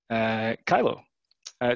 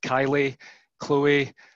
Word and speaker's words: Kyllo: be able to see Kyle oh so so I guess firstly it's pronounced Kyle oh I've had various people come up to me in the past to try and pronounce I've had Kylie Chloe some people think we're